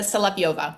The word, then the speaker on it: Solovieva: seven okay give it to me it's say salap yova it's actually it's been misspelled by Immigration Services many years ago so no native speaker of English has any chance in hell I've ever pronouncing it correctly wow okay so what's